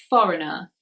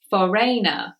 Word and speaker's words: foreigner: sound at the end number 12 is the word foreigner foreigner now you may have said in the past Verena or foreigner something like this but actually the G is silent and it is